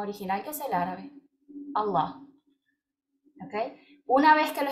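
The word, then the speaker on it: الله: No se dice Alá, se dice Allah. Y honestamente no es ninguna de las dos, es Allah.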